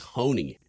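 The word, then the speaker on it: Honie: Fun fact, his name's Honey. Like Honey. If you okay. imagine like H-O-N-I-E, like how you'd pronounce that.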